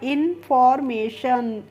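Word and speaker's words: information: लेंगे इन और एफ ओ आर को हम क्या पढ़ते हैं? फॉर पढ़ते हैं ना? तो हो गया इन फॉर और एम ए को हम पढ़ लेंगे मे और टी आई ओ एन का प्रोनाउंसिएशन होता है शन। तो यह हो गया इंफॉर्मेशन।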